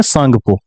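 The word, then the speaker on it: Tsangpo: English में इसका spelling है टी एस ए एन जी पी ओ प्रसांगपो। लेकिन पढ़ते हैं इसको हिंदी में सांगपो।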